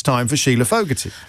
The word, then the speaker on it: Fogarty: But now it's time for Sheila Fogarty. Rhymes with rugger.